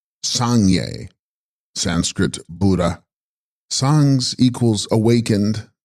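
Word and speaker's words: སངས་རྒྱས: The text contains Tib Sangs Rigas, pronounced Sangye, Sanskrit Buddha.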